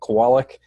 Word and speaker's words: Kowalick: see ya and yeah it's if I didn't pronounce his last name correctly it's a Kowalik so I practiced it a lot to get